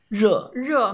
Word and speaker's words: 热: 热 I think the difference, like the position of your tongue is a little bit different. Yeah. 热 You just open up your mouth a little bit when you say because it's Okay, you can't say it without opening up.